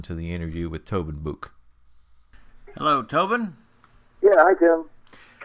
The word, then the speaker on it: Buhk: start the interview yep absolutely okay can you pronounce your last name for us yes book okay that's exactly the way i was going